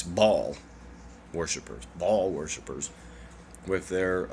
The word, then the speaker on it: Baal: fan malak and baal well people pronounce it bail i guess today but it's ball um to say it like that it's they used to say ball it was it's